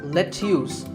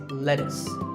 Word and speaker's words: lettuce: I know the spelling looks like it's let's use but it's not it's lettuce and since we're talking about